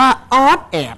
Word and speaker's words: อ๊อดแอด: เสียง นิด นึง เพลง อะไร ออก เสียง ว่า ออด แอด อ่า แล้ว เพลง นี้ เ อะไร ต้อง ติด